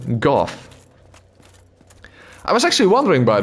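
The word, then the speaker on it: Gough: And Goff is not Go, but Goff.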